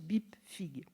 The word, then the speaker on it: BIPFPIG: Sous le titre commun de Bibliographie de la presse française politique et d'information générale, abrégé BIPFPIG, qu'on prononce BIPFIG.